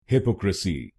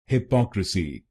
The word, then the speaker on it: hypocrisy: काफी लोग इंडिया में इस शब्द को गलत बोलते हैं, जैसे हिपोक्रेसी। तो आइए समझते हैं ये प्रोनाउंसिएशन गलत क्यों है और इसकी सही प्रोनाउंसिएशन क्या है। इसकी सही प्रोनाउंसिएशन है हिपोक्रेसी।